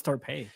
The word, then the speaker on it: Torpy: acquired Australian defender Caitlin Topi from Melbourne City. Again, if my pronunciation is wrong, let me know in the comments because I always point it out to you. And Torpy. It's Torpy. And I've seen highlights just